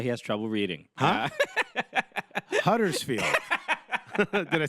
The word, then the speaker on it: Huddersfield: Huddersfield.